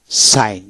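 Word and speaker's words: sign: না হয় না জি এন একসাথে থাকলে জির উচ্চারণ হয় নাই যেমন এস আই জি এন সাইন সাইন এস এ আই এন সাইন এখানে জির উচ্চারণ হলো না এস আই এন সাইন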